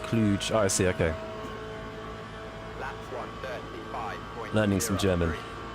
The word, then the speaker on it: Cluj: Cluj is pronounced cluge.